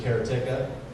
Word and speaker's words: Karateka: it out in arcades there's kara tikka you guys know that's how you're supposed to pronounce that civ veronica yeah and